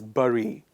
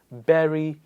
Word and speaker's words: bury: pronouncing this word as barry it's not barry it's like strawberry it's not berry it's berry berry bury the hatchet it means